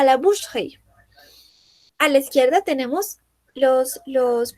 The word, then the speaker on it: boucherie: Aquí entonces sucede lo mismo, no decimos boucherie, sino que decimos boucherie.